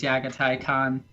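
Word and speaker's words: Jaghatai Khan: But then again, I also pronounce Jagatai Khan as Yagatai Khan, just because I think it sounds more correct. Yeah, I mean, the Y or J sound both work.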